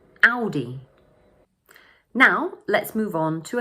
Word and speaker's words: Audi: The first syllable is pronounced ow, and the second one is pronounced d, with the stress falling on the first syllable. So in English, we say Audi, Audi.